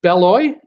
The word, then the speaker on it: Beloit: Donna Mankinnon, hi from, is it Beloit, Wisconsin? Is that how I say it? I don't say the T. I don't want to pronounce the T.